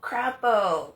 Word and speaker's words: Crapo: Uh, but for real, where is Oh, crapo.